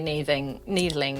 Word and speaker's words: Neethling: So first and foremost, we have Andrew Neethling. Is that how it's pronounced? I would say needling, yeah, for sure.